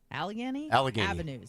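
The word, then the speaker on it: Allegheny: Edwards had been filming a music video at the intersection of Kensington and Alggony. Is that how you say it? Alagany.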